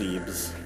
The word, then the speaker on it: Zebes: but it's officially having some trouble it's officially pronounced Zebes anyway creighton norfair are on the same plane